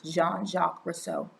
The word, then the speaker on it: Jean-Jacques Rousseau: saying his name but it looks like john but it's pronounced like gene but it's jean-jacques rousseau mozart women's rights the